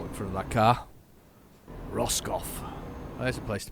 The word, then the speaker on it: Roscoff: to take us to Roscoff. I'm assuming that's how I'm pronouncing it. It looks like Roscoff. It's like Ross, and he scoffed.